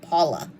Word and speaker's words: Paola: I pronounce it Paula, which is how she says my name, even though it's Paola, which is fine.